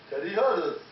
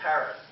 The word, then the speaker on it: Harris: And now let's meet Teddy Hattis. No, it's Harris.